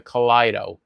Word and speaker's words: Kaleido: And that's the kido. K a l e i d o or i e. It's spelled like kaleidoscope.